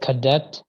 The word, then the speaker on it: cadet: Because I think it's a bit, Cadet. yeah. In French, we would not pronounce the T. The Uh, T would be mute, and you'd say cadet.